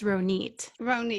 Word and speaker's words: Ronit: be here and um i've been trying to get people to pronounce my name right since i was four years old so it's an israeli name because i was raised